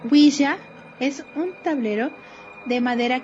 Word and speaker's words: ouija: introducción podemos decir que la ouija según la grafía recomendada por la rae ouija del francés uy qué significa así y del alemán ya que significa también si pronunciado güiza es un tablet de